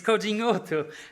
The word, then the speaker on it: Codinhoto: the first joke is can anyone pronounce my surname and you did it brilliantly it's coding Auto and here I am